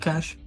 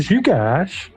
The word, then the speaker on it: Zcash: Is that cash? No, don't say it like that. You had to call it Zcash.